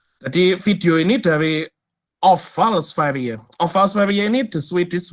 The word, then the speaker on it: Sverige: Ya tulisannya Sverige, tapi bacanya Sverige.